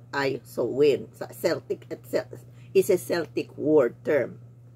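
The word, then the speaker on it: Samhain: h i s a i n kaya ang pronunciation ay soin celtic is celtic war term pero sa ano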